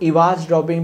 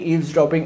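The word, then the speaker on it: eavesdropping: First is traffic analysis and second is ईव्सड्रॉपिंग, जिसको कुछ लोग इवाज ड्रॉपिंग भी कहते हैं, बट इसको लाइक इन रियलिटी ईव्सड्रॉपिंग ऐसे प्रोनाउंस किया जाता है।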